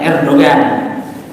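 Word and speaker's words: Erdoğan: fungsi meskipun sekarang balik cuman presiden rr2 kita bacanya Erdogan akhir2 ini ah pemimpin itu kalau hanya terdapat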